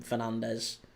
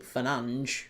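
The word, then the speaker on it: Fernandes: Everyone generally calls him Fernandez, but allegedly, and he will tell you this himself, Bruno Fernanch will call himself Bruno Fernanch. That's how he pronounces it.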